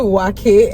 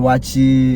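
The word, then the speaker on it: Waakye: if he's watching this he calls it wacky and I'm like bro that's not how you pronounce it so I love the watchy you know and it's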